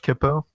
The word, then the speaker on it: Kipo: Also, I just realized I was pronouncing it wrong. I said Kipo, didn't I? Oh, it's fine. It's Kipo. Happens all the time.